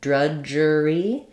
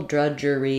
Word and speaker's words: drudgery: drudge it's one syllable drudgery is three syllables it changes a little bit so we have the Dr letter U says the uh schah first syllable stress um and then the J sound in the IPA is spelled is written like that and then we have the IR and an e so thinking about it like druger e um it was drudgery